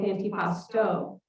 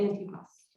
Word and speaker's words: antipasto: You see, in my family, we don't start a meal with antipasto. We start with antipasto. We never pronounce the O.